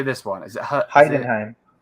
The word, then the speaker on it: Heidenheim: Is it Heidenheim. Heidenheim.